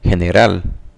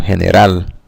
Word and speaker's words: general: So the G in the word general sounds like the J in the name Jason, whereas in Spanish, the G has a H sound, so it's general.